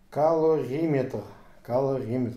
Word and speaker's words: Калориметр: Калориметр, вот так надо правильно говорить.